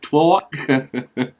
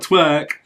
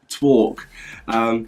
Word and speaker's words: Torque: And then last but not least, we have Torque. I think that's how you pronounce it. Torque. Not twerk, Torque.